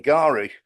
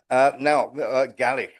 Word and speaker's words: Galish: Now, what is the problem with Konstantin Garish? Galish, I should say. I keep getting his name wrong.